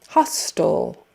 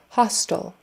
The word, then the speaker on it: hostile: So that T-I-L-E, for some reason, even though there's an E on the end, we're not making that I a long I. It's just hostile.